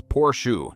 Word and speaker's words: Porsche: The pronunciation, because the name is 2 syllables, Porsche, not one, and almost nobody outside the faithful says it correctly on the first try.